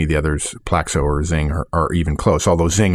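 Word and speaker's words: XING: in the US and Zing, and it's spelled X I N G in Europe.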